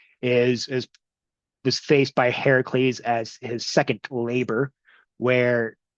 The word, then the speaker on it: Heracles: as part of her eventual revenge scheme slash beef with Hercules or Heracles, which is the correct Greek pronunciation.